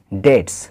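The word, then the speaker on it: debts: করতে পারে না হিজ ডেটস তার ঋণ এখানে দেখো বি টা কিন্তু সাইলেন্ট থাকবে ডি ই বিটি এস ডেটস তো আমি কারো জন্য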